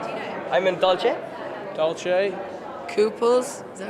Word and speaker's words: Dolce: I'm in Dolce. Dolce. Couples, is that right? Yeah, the cool. Yes. Dolce, you said it right.